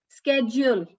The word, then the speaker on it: schedule: So as per the British pronunciation and the Indian pronunciation, it is schedule.